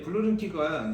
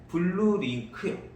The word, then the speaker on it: 블루링크: 괜찮은 옵션들이 스마트 원격 시동 뭐 이런 거에 이제 블루링키가 이제 그 내비게이션이 들어가기 때문에 이 블루링키에서 다 쓸 수가 있는 겁니다. 블루링크라고 좀 발음을 좀. 블루링크요. 그렇죠.